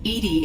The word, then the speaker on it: EDI: airlock is ajar why are you named eating IDI is the phonetic pronunciation of EDI that is an acronym for